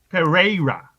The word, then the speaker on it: Pereira: Pereira. -10. You got to roll your R's.